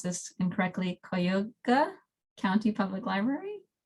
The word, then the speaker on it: Cuyahoga: I pronounce this incorrectly, Cuyahoga County Public Library. It's close, Cuyahoga.